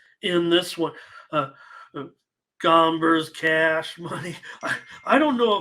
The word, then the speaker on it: Gomber: Gomber's cash money. I don't know if Solo meant to say, but I mean, yeah, that hombre is cash, but it's hombre kind of rhymes with Gomber a little bit.